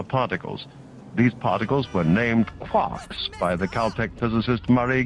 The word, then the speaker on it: quark: The word quark is supposed to be pronounced like quart but with a K at the end instead of a T.